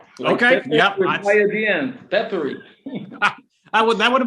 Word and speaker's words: Pepperi: talk with us actually the name of the company should be easy to pronounce it's just peppery okay yeah peppery i would that would